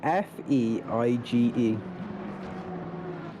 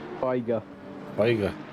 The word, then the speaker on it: Feige: It's spelled F-E-I-G-E. F-E-I-G-E. Feig. No. Feigig. Feiger.